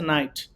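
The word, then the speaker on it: knight: And এখানে একটা বিষয়, কেটা যখন এন এর সাথে উচ্চারণ হবে তখন এটা হয়ে যাবে হচ্ছে নাইট, কে এন আই জিএসটি।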